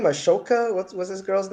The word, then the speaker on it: Ahsoka: Ashoka? What's this girl's name from Star Wars? Ahsoka. Ahsoka. Ahsoka. Yes, the Ahsoka. H is silent, which Okay.